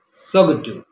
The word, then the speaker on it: Tsogdu: t s o g d u but it's pronounced as soon all right and now number three we are